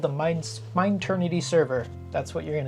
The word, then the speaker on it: Mineternity: We are going to be calling ourselves the Mineternity server. So it's spelled M-I-N-E Eternity, so like mine and eternity put together, because we wanted something